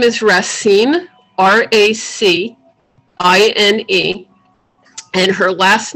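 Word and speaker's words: Racine: um i'm i'll say it and then i'll spell it her first name is rasine r-a-c-i-n-e and her last name is ox to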